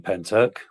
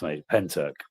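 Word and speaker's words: Pentyrch: Um I I live 10 minutes away from Penturk. That's what that's how it's pronounced. Penturk.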